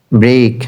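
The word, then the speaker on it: break: ব্রেক, ব্রেক মানে ভাঙা, I will ব্রেক। এখানে বলতে পারেন যে এখানে আরটা উচ্চারণ হলো কেন।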